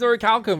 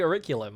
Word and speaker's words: Orichalcum: yeah, it's always Auricalcum, but they always say Auriculum.